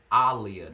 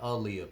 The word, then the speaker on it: Aaliyah: Yeah, her name is pronounced Aaliyah, not Aaliyah, people. Aaliyah, like Muhammad Ali.